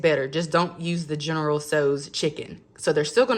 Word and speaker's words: General Tso's: These real good chicken General Tso's. That's how I pronounce that. I know people pronounce it differently.